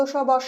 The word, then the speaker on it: সব: আমরা আগে দেখলাম দন্ত স বা সব মানে সমস্ত বা অল, আবার বাস সেখানেও দন্ত স, কিন্তু আগের সব আমরা উচ্চারণ করছি স, অর্থাৎ তালব্য স হিসাবে SH, আর বাস আমরা উচ্চারণ করছি দন্ত স এই হিসাবে স।